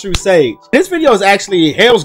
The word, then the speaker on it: True Sage: And of course, it's always, it is pronounced True Sage.